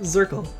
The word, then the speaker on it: Zirkel: In German we call it Zirkel, which is pronounced like circle.